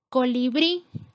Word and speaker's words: colibrí: Colibrí, la sílaba con mayor fuerza es bri, que sería la última, cumple con la regla porque termina en vocal, colocamos acento.